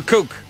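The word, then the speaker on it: Kuck: But his name is Kook. May be a Kook, but he sounds like Kook.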